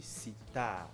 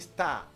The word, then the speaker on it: sitar: On dit flûte, on dit sitar. Si tu dis star, si on est en jeu biblique là, j'invalide tout ce que tu viens de dire.